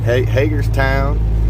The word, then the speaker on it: Hagerstown: back to hagerstown i said that right right hagerstown we've been working on the pronunciation uh david here asked the locals so